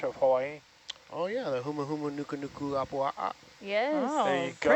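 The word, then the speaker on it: humuhumunukunukuāpuaʻa: Oh yeah, the huma huma nuku nuku apua'a. Yes. Oh, There you pretty go. good pronunciation, Adam.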